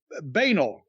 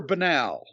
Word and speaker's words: banal: on i'll get it banel completely ordinary and commonplace trite is it banel or banal it's pronounced both ways actually i've heard people pronounce